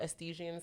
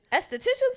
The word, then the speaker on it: esthetician: candles i'm working on going to estesian school so i can also do excuse my blessing what are we doing esthesia i hope i said it right am i saying it right esthetician school yes that's why i said